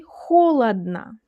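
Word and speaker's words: холодно: aknom And in the last word there are three letters o, but only one of them sounds like the real o. Others sound like ah. We say holodna, holodna. So only the first one sounds like o.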